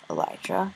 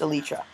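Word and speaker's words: Elytra: know from our videos that Elijah or I think it's actually pronounced Alicia so if you put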